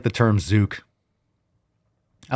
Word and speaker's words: zucc: So it's a hard C. Zook. Yeah, fucking zook. That might be. You might want to check that out. I feel like that might be a slur. I think we went over this before. Of course, it's spelled like Z-U-C-C, but like Z-O-O-K, a zook. That sounds like it could be a slur.